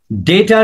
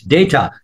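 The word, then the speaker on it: data: এই সেকেন্ড ব্র্যাকেটের পাশে লিখেন হচ্ছে ডেটা রিলেটেড, ডেটা, ডিএটি, আমরা যাকে অনেকে ডাটা বলে থাকি, মোবাইল ডাটা, তারপরে নাম্বার, যেগুলো ডাটা বলি, এটার উচ্চারণ হচ্ছে আসলে ডেটা।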